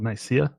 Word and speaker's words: Nicaea: And then when the council of, I can't remember how it's pronounced, the Council of Nicaea, Council of Nicaea.